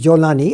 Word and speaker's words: Jolani: In Arabic, the Egyptians pronounce the Jim as Gim. Yes. So Golan is actually Jolan. So the Jolan Heights, and he's Jolani, and he is from,